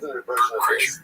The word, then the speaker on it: Bert Kreischer: Because last week, Bert Kreischer's, that's how you say it, Bert Kreischer.